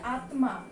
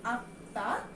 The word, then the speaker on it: আত্মা: এটার উচ্চারণ কি, এটা কিন্তু আমরা যদি হিন্দিতে উচ্চারণ করি তাহলে কিন্তু এটার উচ্চারণ হচ্ছে আত্মা, কিন্তু আমরা বাঙালিরা এটার উচ্চারণ করি আত্মা, কিন্তু নাসিক্য ধ্বনি থাকায় আমরা এখানে একটা চন্দ্রবিন্দু দিব।